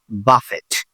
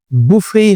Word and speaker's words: buffet: বি ইউ এফ এফ ইটি বুফে অর বাফেট which pronunciation ইসট বি ইউ এফ এফইটি এই শব্দ উচ্চারণ বুফেই হবে।